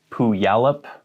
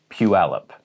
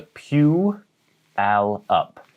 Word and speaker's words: Puyallup: here's one that i hear so many people mispronouncing it's pualep but so many people want to say pu yalap or pu yalip it's puealop so there's a pew al up puyallup next a city on the coast where